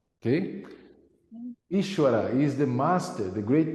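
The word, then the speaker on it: ईश्वर: the book is is some people say is but the the pronounce more close would would be ishwara okay ishwara is the master the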